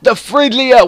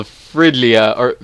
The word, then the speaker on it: Fridgia: an ice kingdom called Fridgia? Yeah, I think it's pronounced the same way. It's without the D, basically, is located.